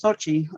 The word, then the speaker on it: Xochitl: the person in charge and my name is sochi um it's a unique name and i you